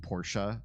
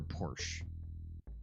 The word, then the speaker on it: Porsche: was a kid like people used to argue over whether the car was pronounced Porsche or Porsche and stupid I mean the E is there it's pronounced because it's not an English word you wouldn't drop that e sound and all of